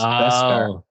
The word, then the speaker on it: Beskar: The thing that sounds like Kevlar and it's 2 syllables. Beskar.